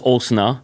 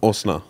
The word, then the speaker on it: Osnizzle: But it's spelled O-S-N... I-Z-Z-L-E. Yeah, now I always thought, like, what is the correct spelling? Okay, so name is Osna. Osna.